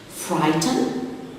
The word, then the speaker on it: frighten: Frighten, the silent letter is the GH before the T.